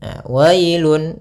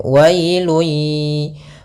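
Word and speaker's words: ويل: Pada lafal wailun, wailun di sini ada bacaan lin, yaitu pada lafal wa ketemu dengan huruf ya sukun, maka dia lembut dalam pelafalannya. Wailun, wailun ya.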